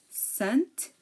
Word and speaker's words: scent: scent science and scissors we hear that we hear the S but we really don't hear the C so here the C is silent because um like we said it is after an S and before an e or an i again desent Fascinate floresent